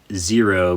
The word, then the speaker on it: Xero: you got there so I have a Garmin zero but they spell it with the X zero Gazo xero C1